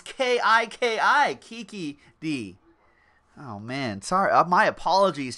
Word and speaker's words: Kiki D: No, it's TJ is actually saying actually it's K-E-E-K-E-E-D-E-E. Kiki D.